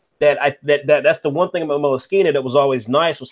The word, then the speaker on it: Moleskine: That's the one thing about Moleskine that was always nice, was how good it felt in your hand.